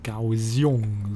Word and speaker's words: Kaohsiung: Kaohsiung, so wird das richtig ausgesprochen.